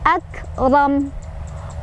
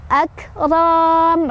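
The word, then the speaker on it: أكرم: angin keluar sedikit ya, akram. Ro-nya dibaca secara tafkhim atau tebal karena ro-nya barisnya di atas atau fathah. Cara bacanya ro-nya ditebalkan ya. Dan hati-hati, bukan akram, ro-nya tidak panjang, ro pendek karena di depannya tidak ada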